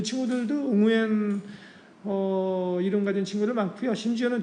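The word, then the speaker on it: Nguyễn: 베트남인 발음을. 응우엔 이렇게 발음하더라고요.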